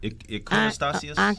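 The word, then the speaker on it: iconostasis: How do you pronounce that? The iconostasios, which is the icon screen. Iconostasios? Iconostasios?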